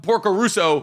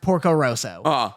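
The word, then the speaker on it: Porco Rosso: to get upset about Porco Russo the worst thing hay miyazaki's ever done I genuinely can't help you so the first have two notes for you one was uh that it's pronounced Porco Roso two is [ __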